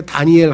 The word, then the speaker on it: 다니엘: 단지파의 단이 심판이란 뜻이란 말이죠. 그래서 단이엘이래요. 그러니까 하나님이 심판이시다 했는데 우리가 발음을 붙여서 하니까 다니엘 하지만 단이엘이에요.